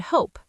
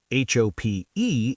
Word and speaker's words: hope: What's the difference between hop and hope? H Oop is hop. H O P E is hope. That silent E makes the O say its own name.